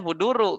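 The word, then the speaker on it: حضور: masdar apa Ul huduru huduru ya bacanya huduru kenapa kalau kita takwi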